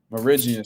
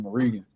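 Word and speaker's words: Mirigian: Meridian. See, I was saying it wrong. I was saying Meridian.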